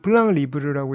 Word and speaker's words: plan libre: 블랑 리브르는 불어인데요. 블랑은 영어의 플랜하고 같은 평면이라는 뜻이고요. 리브르는 영어의 프리라는 뜻입니다. 그래서 불어로는 블랑 리브르라고 읽고 자유로운 평면이라는 뜻이고요.